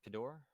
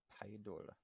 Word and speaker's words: Pidor: it is good and is it pidor or pedor pidor okay I'm not gonna